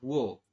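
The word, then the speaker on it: 워: o sebelah ya ya vokal u dengan vokal o maka dibacanya adalah wo bukan uo tapi wo seperti itu ya kemudian ada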